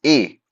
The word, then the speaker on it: et: Et is a, pronounced as a, which means and.